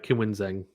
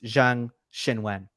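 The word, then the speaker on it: Zheng Qinwen: yeah, it's the Q is the SH sound. Oh, And okay. and and Okay. the names are reversed. So it's Zhang Xinwen.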